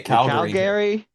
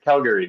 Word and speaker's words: Calgary: We say Calgary. We say Calgary.